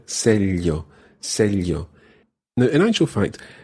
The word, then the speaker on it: sello: A stamp is un sello. Un sello. Exacto. Cara, can you tell me how sello would be written? S-E-L-L-O. Exactly. It's got a double L sound in there. Sello.